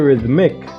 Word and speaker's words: rhythm: please pay attention that the word is rhythm with a th another rhythm like how we like to pronounce it so we're trying to